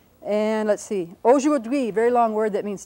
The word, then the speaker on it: aujourd'hui: Dui, aujourd'hui, and the accent's on the last syllable.